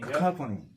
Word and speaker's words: Cacophony: Cacophony.